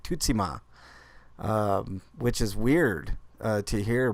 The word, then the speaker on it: Tsushima: saying it right to Tsushima right but it's actually pronounced differently and developer had a different pronunciation that I never heard before it's like Tootsie ma which is weird to